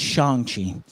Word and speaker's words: Shang-Chi: say for a certain knit you're gonna like shang chi i liked it and i enjoyed it so if anything just get out there and go watch it uh by the way it's shangchi but that's nice yeah all right stop it